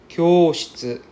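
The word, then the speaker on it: きょうしつ: Okay, next, kyoshitsu. Kyoshitsu. Right, because there's a U there, so we drag out the O sound.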